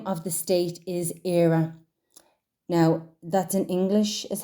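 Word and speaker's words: Éire: it out the name of the state is era now that's in English is how era is spelled right and in the English language Ireland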